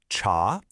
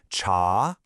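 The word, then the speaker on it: 茶: The character is pronounced cha. It's a rising second tone, so it goes up. Cha.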